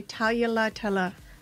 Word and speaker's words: Taglialatela: that correctly hi so I do pronounce the G then you can or you can say Talia Litella tight do it again